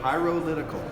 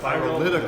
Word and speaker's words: Pyrolytical: Pyrolytical. Like pyro and political together. Okay. Hey, it's 5 syllables like representative.